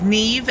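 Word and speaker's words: Niamh: Now, let me tell you, Professor Fitzgerald, her name is Neve Ne, like you know, Nev Campbell or whatever. But, um, it's spelled because she's Irish. N, sorry, N I A M H.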